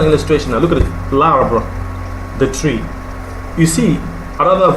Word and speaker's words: l'arbre: L'arbre. Pronounced together.